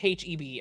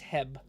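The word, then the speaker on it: H-E-B: time I know it's I know it's H EB I know but it's Hebb oo chat on the screen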